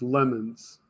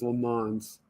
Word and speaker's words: Le Mans: Jim says it's pronounced lemons. Lemons instead of Le Mans? I've always heard it said as Le Mans.